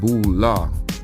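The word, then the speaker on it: Boulé: The Boule, acronym of Sigma Phi Phi and pronounced Bula, was formed to bring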